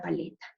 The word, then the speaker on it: paleta: voz más ley cuenta juguemos con la palabra paleta hagamos mayor fuerza de voz en la sílaba para hagamos mayor fuerza de voz en la sílaba le paleta hagamos mayor fuerza de voz en la sílaba está paleta listo cuál es la